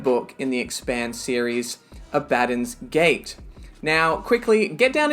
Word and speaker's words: Abaddon: and i was told abaddon like aladdin but i'm perfectly happy